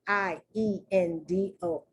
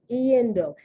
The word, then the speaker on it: iendo: You pronounce the I and the E.